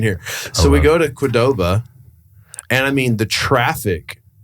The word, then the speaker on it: Qdoba: I think it's pronounced Qdoba.